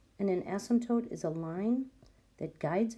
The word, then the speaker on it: asymptote: of our essential questions asymptote it's pronounced with a silent P and an asymptote is a line that